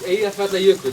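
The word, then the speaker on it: Eyjafjallajökull: It's Eyja Fjallajökull, as you all knew, right? Eyja Fjallajökull. Okay. Anyone forget again? But now I'm going to teach you how to say it. Break it down. Eyja Fjallajökull.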